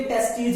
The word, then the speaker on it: testes: ये सिंगुलर और प्लूरल दोनों में यही जो स्पेलिंग है और यही जो प्रोनाउंसिएशन यूज होती है। टेस्टीज ही बोलते हैं, कुछ जगह पे TESTES भी लिखा जाता है, और टेस्टिकल्स भी कुछ जगह पे बोला जाता है, टेस्टिकल्स। तो टेस्टिस चाहे एक की बात करें चाहे दोनों की बात करें, टेस्टिज ही वर्ड यूज किया जाता